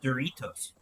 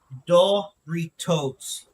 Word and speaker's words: Doritos: This word is Doritos, right? Doritos. That's the way we would pronounce it. But the company that makes this, which is actually Pepsi, but anyway, the company that makes this pronounces it the Spanish way because it's a Mexican word, so it's Doritos, not Doritos. There's no E on it, which changes the pronunciation in Spanish.